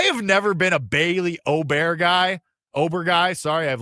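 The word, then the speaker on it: Åberg: Sorry, I have Ludic Obear on the mind, which apparently is now Oberg. I don't know. He's changing the way you want to say his name all the time, but whatever.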